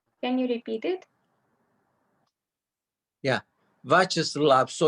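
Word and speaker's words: Вячеслав: names that end in Slav, you stress this syllable. Vyacheslav, Bavad. Vladislav. Slav is stressed. Which one is it? The last syllable Slav is usually stressed. It's not Vyacheslav, it's Vyacheslav.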